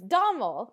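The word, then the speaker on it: Dòmhnall: is Donald and it's it's Domo is is how you say it and that's that's that's the guy's name is Domo but it it's spelled with an N because Gaelic is so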